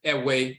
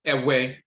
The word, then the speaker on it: Ewe: The Ewe people, from which Vodun comes from, sometimes some pronounce it Ewe, E-W-E, Ewe. Some pronounce it E-V-E, Ewe.